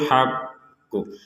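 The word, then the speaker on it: الْحَقُّ: itu sukun annahul Haq karena di sini ada tasdid maka cara membacanya memang seperti itu ditekan dulu anul setelah ditekan baru mengucapkan pantulan dari huruf q jadi tasdid di atasnya Q ini harus kita perhatikan juga jangan sekedar an ya G ada tasdidnya betul itu Haq seperti itu tapi karena ada tasdid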